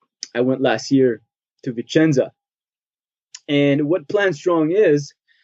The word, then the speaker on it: Vicenza: So you were in correct me if I'm pronouncing, Vicenza? Vicenza, yes.